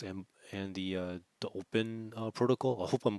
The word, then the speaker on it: Opyn: and the uh the open protocol i hope i'm pronouncing that right it's opyn so i'm assuming it's pronounced open but uh who knows uh